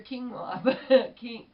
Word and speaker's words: quinoa: that so enjoy your quinoa Ken quinoa I think is how you pronounce it I found out I